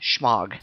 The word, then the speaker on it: shemagh: it would be pronounced shim but uh Americans have uh blurred it and now it's just pronounced shog what am I going